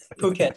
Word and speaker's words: Phuket: it it phuket thank you thank you so so jamie what